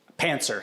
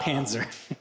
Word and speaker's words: pantser: So not mispronounced German tank, but seat of the pants first? Pantser, yeah. Not Panzer.